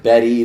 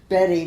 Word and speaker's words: Bette: Said Betty Bet. I said like B Middler.